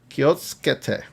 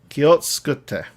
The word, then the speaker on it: 気をつけて: So you have that su sound and it gets lost in the rest of it. So I always screw that up when I'm pronouncing or I hear somebody and I'm like, what do you say? 気をつけて Kiotsukete. So it's ke. Like the su like drives into the next syllable.